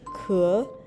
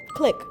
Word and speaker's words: Kelike: that I saw about how to pronounce Kelike, and basically it's how I've been pronouncing it is Kelike. Yeah. And yeah, you can pronounce it like that. You can also pronounce it click, because that's what it is. It's a very literal romanization, or like a very literal localization of the English word click.